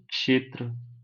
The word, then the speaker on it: क्षेत्र: कौन सा बनाते हो क्षेत्र तो इसका उच्चारण कैसे करना है इसको क्षेत्र नहीं कहते इसको क क्षेत्र कहते हैं क्षेत्र क छोटा य